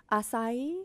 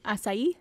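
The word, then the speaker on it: açaí: it might have had I'm going to try and pronounce this correctly like all of the the hippies would like me too asai asai I that's how Jamba Juice pronounces it C A Ai and there's like that weird little like Cur I've beening say aai I've been saying that WR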